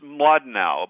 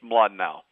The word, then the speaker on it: Mlodinow: It's it's Madnau, but it's a Russian name. Starts ML, so it's very hard to pronounce in English. Madnau. Okay. Madnau.